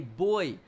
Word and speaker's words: buoy: just correct me and say no it's not a buoy you American Pig it's a boy well the pronunciations are different in the u.s. compared to to the UK kind of like how